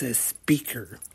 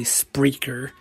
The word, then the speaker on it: Spreaker: have the caption done it's a speaker it doesn't actually say spreaker in case um you can't tell spreaker is spelled s p r e a k e r but I noticed on the captions a lot of time it's just a speaker instead of spreaker so probably just can't